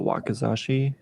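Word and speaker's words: wakizashi: nothing um I'm gonna also try this the wakazashi is how you pronounce it yes fortunately no progress made here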